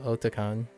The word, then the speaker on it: Otakon: So this will be the 25th year of Otakon. And it's pronounced Otakon because it's otaku meets convention.